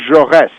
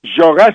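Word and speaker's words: Jaurès: would point to is the assassination of Jean jores j a u s with a little Accent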